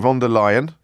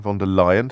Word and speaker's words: von der Leyen: So von der Leyen, sorry, not Leyen, von der Leyen, thank you for correcting my pronunciation, pedants.